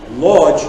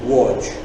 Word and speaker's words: Łódź: L in Polish, and the L with a line through it is pronounced as a W.